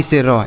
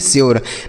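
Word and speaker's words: sure: यह होगा इसका सही उच्चारण, इसे हम पढ़ेंगे श्योर। ना तो इसे सूर्य पढ़ेंगे ना तो सर पढ़ेंगे, कुछ नहीं आपको पढ़ना है, इसे केवल और केवल आप श्योर पढ़ेंगे।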